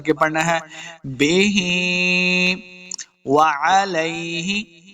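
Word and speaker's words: وَعَلَيْهِ: پڑھنا ہے۔ بے ہی، وعلیہ، واو کو تلفظ کے ساتھ پڑھنا ہے، مخرج کیا ہے آپ کو پہلے بھی بتایا ہے، دونوں ہونٹ گول کرنے ہیں تب واو کا مخرج صحیح ادا ہوگا۔ علیہ، عین کو تلفظ کے ساتھ پڑھنا ہے، لام زبر یا لئی، اس کو لمبا نہیں کریں گے۔ وعلیہ، بغیر لمبا کیے ہوئے بغیر غنہ کے پڑھنا ہے۔ وعلیہ توکلنا، توکل، واو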